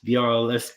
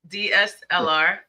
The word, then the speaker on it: DSLR: Part 2 I got a 4K mirrorless DRLS camera. I hate saying that, DRLS camera. I think I'm saying that wrong. DSLR.